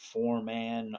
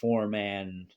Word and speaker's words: ForeMan: between Drake Talon versus ForeMan Rlsh. It's spelled Foreman, but the M is capitalized, so I think man, like Batman, is the way he wants that to be.